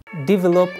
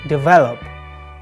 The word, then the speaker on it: develop: Develop or develop. This word causes lots of problems for non-native speakers because of its stress. The stress is on the second syllable, on the V, not on the first syllable, D.